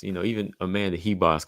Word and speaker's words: Ribas: heas heas yeah you know more of a h sound to it I know some people told me but I said hold on now let me hear what the fighter says sound like she pronounced her own name as Amanda heas so yeah that's what